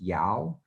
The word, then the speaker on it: Dao: DAO is pronounced Yao.